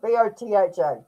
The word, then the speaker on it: Botha: B O T H A. Take it as you will. And I just want to educate you a little on the correct pronunciation in South Africa, Botha.